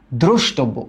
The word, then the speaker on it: দ্রষ্টব্য: দ্রষ্টব্য, উচ্চারণ করো। ফার্স্টে বলো দ্রোষ। ফার্স্টে আমরা কি বলি? দ্রোষ। এই যে দ্রোষ। তারপর আমরা বলি টোব, দ্রষ্টব। তারপর আমরা বলি বো, দ্রোষ টোব বো।